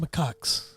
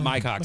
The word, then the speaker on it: macaques: Again, And by the way, it's pronounced macaques. macaques. Okay. Yeah, macaques. Macaques. Not my cocks, my cocks.